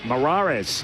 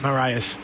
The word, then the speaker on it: Moras: Christian Morarez. Moras. Moras. I knew you'd help me out with that with a young man. So Moras is how you pronounce that.